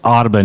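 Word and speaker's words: Audubon: It's Otaban. You know, like the James Ottabban Society. It's spelled the same way.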